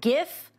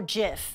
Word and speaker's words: GIF: bet is it animated gif or Jif and why we take the hard G stance if you say jiff that's totally fine with